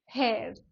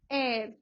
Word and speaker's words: heir: Pronunciation पे ध्यान रखना, बहुत लोग क्या बोलते हैं, हेयर, नो इट्स एयर, एयर, H silent है, एयर।